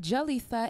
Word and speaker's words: Jalisha: It's pronounced Jalisa. H is silent.